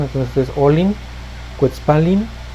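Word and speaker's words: ollin: Entre ellas está olin, que es para esto esta doble L sigue manteniendo su alargamiento en la pronunciación. Entonces es olin, quetzpalin o quilin.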